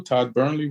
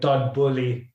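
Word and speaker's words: Todd Boehly: Todd Burnley? What? Todd Bowley. I think I have to get used to pronouncing his name right.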